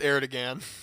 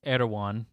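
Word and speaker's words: Erdoğan: of Native Americans um I'm pretty sure it's not pronounced aired again it's erwan okay whatever here in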